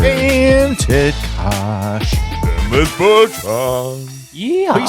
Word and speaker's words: Bertrand: You actually pronounced our podcast producer, our godson's father, Dennis Bertrand.